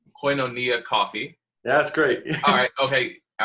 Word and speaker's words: Koinonia: business is, and I'm going to attempt to pronounce it correctly because I know I've messed up before. So it's Koinonia Coffee.